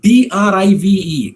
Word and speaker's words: drive: in a word like d r i v e drive the r is pronounced right in a word